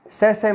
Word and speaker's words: sachet: Sachet means पैकेट. कोई किसी का पैकेट है तो इसका उच्चारण होगा sachet.